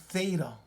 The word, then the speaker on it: theta: And it's pronounced theta.